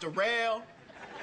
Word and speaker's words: Derell: yeah uh my name derell it's spelled like but it's pronounced derell uh yeah I just